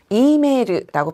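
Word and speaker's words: メール: 앞에 있는이는 장음으로 발음해서 이메르라고 표현하고요.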